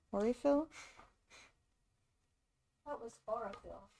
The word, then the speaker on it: Aurifill: Aurifill? Aurifill? That was Aurafill. Yeah, I think that's the American way to pronounce it. I don't think the Italians pronounce it the same way.